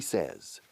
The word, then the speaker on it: says: Say, I say, you say, y fíjate cómo cambia la pronunciación. He says, she says, ¿cómo se dice 16 en francés? Says. 14, 15, 16. Es igual. Says. Sesame. Barrio Sésamo. Sesame. Open sesame. Ábrete sésamo. Open sesame. Says.